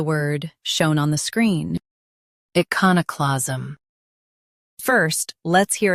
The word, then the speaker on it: iconoclasm: U.S. stress ka. UK con is softer. Iconoclasm.